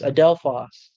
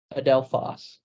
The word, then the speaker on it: adelphos: okay my brother in Christ can you uh pronounce the Greek word for brother is it adelphos yes adelphos adelphos yes holy okay no it's not not a